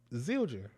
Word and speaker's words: Zildjian: No, it's how it's spelled. Zildjian.